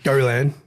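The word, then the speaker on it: Gollan: Go Lan. Tony Gallan. Gallan. Yeah. There's a little French twist on that one.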